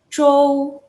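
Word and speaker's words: 周: itu apa itu adalah Show slow cara baca zh ada yang masih inget gak nih cara bacanya adalah lidah kamu tuh harus nempel ke atas yang konon defense throw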